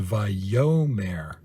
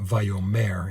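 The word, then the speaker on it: ויאמר: word so notice here the diacritical marker is beneath the second syllable so it's a viomare not vayomer and so that's really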